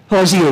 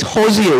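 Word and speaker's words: Hozier: Hosier, right? I just want to make sure I could say it properly. Because I call it Hosier, right?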